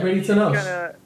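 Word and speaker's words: Bradie Tunnell: Yeah, Brady Tunnell.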